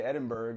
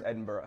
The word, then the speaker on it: Edinburgh: I learned how to pronounce Edinburgh. I used to say Edinburgh. I said Edinburgh until too. About an hour ago. It's Edinburgh.